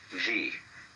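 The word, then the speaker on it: 事: First of all, there is a level of being which we will call G. The word G, which is Japanese way of pronouncing the Chinese ch, is the world of things and events.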